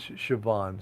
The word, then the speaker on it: Siobhan: My daughter's name is Siobhan. So K.H. Walker, that's how it's spelled, right? But who would ever know that by that spelling, right?